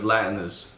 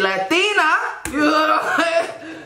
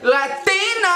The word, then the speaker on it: Latina: There's no way the pronunciation on that was Latinus. Siri need to up her game. Because that's just disrespect. What the fuck is a Latina? You better say Latina. Latina.